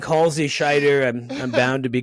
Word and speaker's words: Schider: I've been called I've been called worse than than Schneider a lot of people throw ends in there yeah we get we